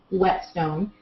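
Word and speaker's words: whetstone: a wet stone now wet stone is spelled w-h-e-t esteoni wet stone and wet meaning to sharpen or sharp not w-e-t there are some stones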